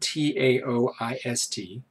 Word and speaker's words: Taoist: informed by Eastern Taoist the spelled ta o is T but pronounced Taoist tradition more than the